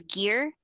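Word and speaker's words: Gier: characters his name is gear but it's spelled g-i-e-r so i had to specifically write out his name is pronounced g-e-a-r a g-e-a-r not g-y-r-e or whatever but yeah she's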